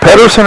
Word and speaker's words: Pedersen: Now, is that Pedersen or Peterson? It's P-E-D. I know it's spelled P-E-D, but sometimes they pronounce that Peterson. Well, I was told Pedersen.